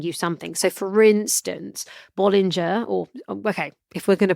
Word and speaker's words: Bollinger: So for instance, Bollinger, if we're going to pronounce things correctly, Bollinger, they own L'Aglo Chateau.